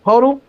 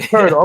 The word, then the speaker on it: Poeltl: It's like if you said turtle. It's turtle, but with a P. Turtle. Exactly. Poeltl.